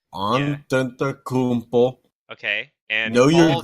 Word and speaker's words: Antetokounmpo: So we're starting with MVP, and our wheel decided to nominate James Harden, Giannis Adetokounmpo, if I can pronounce that correctly. Antetokounmpo, Yeah. Antetokounmpo.